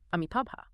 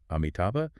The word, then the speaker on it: Amitabha: of a single name, Amitabha. Right. Xu Feng contrasts two different ways to pronounce just the very first letter, the A. Yeah, you can pronounce it as ah, or you can pronounce it as a.